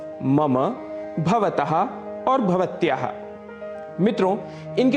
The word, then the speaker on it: मम: इसे मम बिल्कुल भी नहीं कहना है। इसका शुद्ध उच्चारण है मम। मम अंत में अ की ध्वनि अवश्य आनी चाहिए।